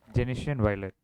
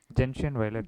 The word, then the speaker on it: gentian violet: So 1% glacial acetic acid, Genesian Genesian violet. Gentian violet, ma'am.